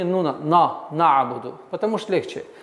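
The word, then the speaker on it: نعبد: выдает твердое произношение нуна, на'буду, потому что легче. Но нужно стараться, чтобы так произнести звук нун мягче. На'буду. Вот это усиление на гортанный звук является ошибкой. Нужно мягко, плавно произнести айн.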